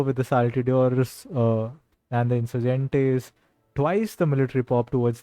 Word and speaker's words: Insurgente: And I was told in the chat that my pronunciation of Insurgente is the right one.